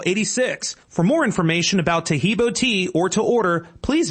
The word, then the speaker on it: Taheebo: Tahibo tea is great for healthy people because it helps regenerate cells.